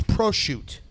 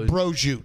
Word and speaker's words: prosciutto: It's prosciutto, not brojoute.